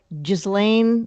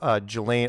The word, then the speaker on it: Ghislaine: Do we even know Ghislaine, what a weird name, Maxwell was ever arrested, was ever in jail?